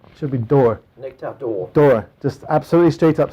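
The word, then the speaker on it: Nectar d'Or: accent on the o you should actually pronounce it as if you don't know how to pronounce French nectar door it should be door nectar door door just absolutely straight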